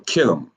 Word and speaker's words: Kittim: face of the earth is what? Kitim or Kittim, K-I-T-T-I-M. When you hear me use that long I, right, and that short A, like in Mizraim, you hear that long I? That's because I'm pronouncing it with the ancient Hebrew lettering. But in English, it would be Mizraim for Egyptians, and for Italy, it would be Kittim, Kittim.